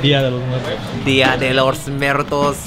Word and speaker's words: Día de los Muertos: Día de los Muertos.